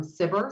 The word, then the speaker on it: SBIR: have heard the term sivir sometimes people pronounce it as if it's a a word and that's fine both are correct so there are 11